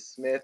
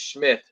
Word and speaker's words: Schmith: Watt Holmes says, "How do you say your last name? Is it Smith or Schmidt? It's Schmith. Schmith. I know it's hard to pronounce.